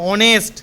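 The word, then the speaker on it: honest: আচ্ছা, আর এইচ এর উচ্চারণ অ কোথা হবে? বলো। অনেস্ট, এইচ ও এন ই এস টি।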